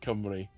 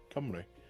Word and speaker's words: Cymru: Um and he and he's been trying to teach me how to pronounce certain things in Welsh as well, like Cymru which is what Welsh uh Wales is in Welsh, Cymru.